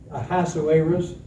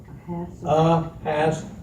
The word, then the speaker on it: Ahasuerus: Glenn, Yes, would you pronounce that king's name slowly? Ahasuerus. Ahasuerus.